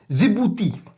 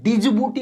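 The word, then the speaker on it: Djibouti: आगे करते हैं जिबूती। अभी देखो डी साइलेंट है यहां पर, ठीक है, इसलिए मैं डिजिबूटी नहीं पढ़ रहा, मैं जिबूती इसको पढ़ते हैं, लेकिन आप जो पढ़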